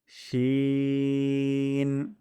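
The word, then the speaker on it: شين: বেশি বের হবে সিন নেক্সটশি জিবার মধ্যখান এবং তার বরাবর উপরের তালুর সঙ্গে লাগিয়ে পাতলা সান উচ্চারণ করব শিন তারপরে হরফ সদ জিবার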